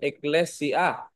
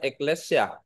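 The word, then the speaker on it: ἐκκλησία: ang Greek word ni eclesia o ecle e k l a eclesia even yung pronunciation dapat tama kasi yung mga hindi marunong mag-pronounce diyan eclesya kaya diyan galing yung tagalog natin na iglesya pero yung Greek niya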